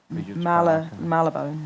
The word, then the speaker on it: Marylebone: Marylebone.